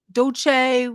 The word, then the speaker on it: Dulce: Dolce? How do you say Dolce? Is that what is that how you Yeah, pronounce it? Dulce.